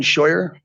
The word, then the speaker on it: Shyer: and you can state your name and um spell it for the record hello hear me my name is Shyer it's b r n d o n s